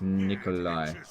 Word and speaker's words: Nicolaj: Nicolaj is pronounced as Nikolai.